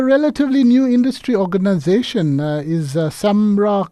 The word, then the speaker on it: SAMRRA: Is Samra correct the acronym pronunciation? Yes, Samra.